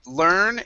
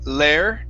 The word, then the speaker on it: learn: so it's gonna be learn and hard okay so with the word learn instead of saying lair learn okay go straight to it go straight to an er sound learn learn that's it okay and then here okay